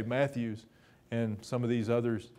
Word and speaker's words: Matthews: generation or so ago pronounced their name mathis but it's spelled like we would say matthews and some of these